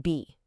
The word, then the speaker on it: 比: Okay, so the magic character here is be, and we pronounce it be.